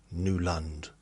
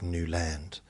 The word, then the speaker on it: Newland: Even at the doctors, they say Nuland, Nuland, instead of Newand.